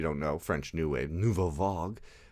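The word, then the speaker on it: nouvelle vague: Because it's very, if you don't know, French new wave, nouveau vague, that's how you say it in French, nouveau vague, that's how you pronounce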